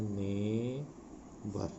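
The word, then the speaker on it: neighbour: एस बी ओ जुआर नए वर्ष का उच्चारण होता है ने भर नेवर का मतलब होता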